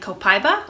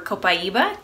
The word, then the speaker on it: copaiba: fir siberian fur and copaiba or copaiba depending on how you pronounce it frankincense is definitely